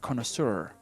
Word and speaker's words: connoisseur: expert on the topic i am not a connoisseur you know a connoisseur is it's a word